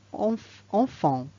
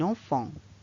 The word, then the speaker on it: enfant: Commençons par le mot enfant. Il finit par une lettre qui ne se prononce pas. Un enfant.